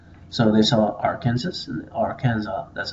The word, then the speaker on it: Arkansas: belonged to France well in French they add unnecessary s's to the end of all their words so k a NS